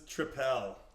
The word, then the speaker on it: Tripel: So this is Tripel. Triple. Yeah. Or Triple. Triple. Yeah, they spell it like that because Belgians spell it like that, but it's just triple.